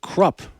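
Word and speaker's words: Krupp: 1,247 75 a year Fred crup rhymes with corrupt president of environmental defense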